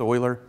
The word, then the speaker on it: Euler: that it's Leonard Euler it kind of looks like he could pronounce it Euler but it's it's Euler and I've said it